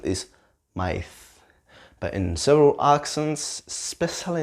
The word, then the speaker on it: maíz: Corn, maíz, corn, maíz, right? It's got the stress in the I, right? In the E sound. Maíz, right? Maíz, right?